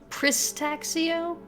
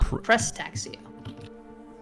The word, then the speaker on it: Prestaxio: Pristaxio? No, Prestaxio.